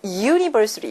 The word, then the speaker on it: university: 또 비슷한 맥락에서 university라는 단어, 대학교라는 단어인데 U로 시작하지만 실제로 발음상으로는 JU로 시작해서 university 이렇게 발음이 납니다.